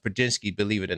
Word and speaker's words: Prigioni: But I do pronounce Prigioni correct, cuz it is pronounced Prigioni, believe it or not.